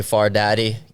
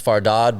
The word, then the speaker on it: Fardad: d y uh growing my last name is farod but you know growing up here everyone reads it it's phonetically far dad so it used to